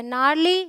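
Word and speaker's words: gnarly: यह है gift alright rule number two says अगर जी के बाद एन आए तो जी साइलेंट होगा ठीक है तो जी के बाद ए आए तो आंख बंद करके आप समझ लें कि वहां पर आपका जी साइलेंट है यह है अलाइन यह है साइन यह है नाल देखिए शुरू में ही है जी साइलेंट है यहां पे ये है नारली ये है असाइन और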